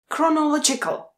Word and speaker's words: chronological: Chronological. Chronological. A zase ch se vyslovuje jako k.